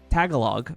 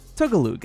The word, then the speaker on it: Tagalog: American growing up eating Girl Scout cookies, it's Tagalog? In my head, I always pronounce it Tagalog because the Girl Scout cookie was Tagalongs, and I always just pronounced it that way, but it's Tagalog, and that's something I never actually knew that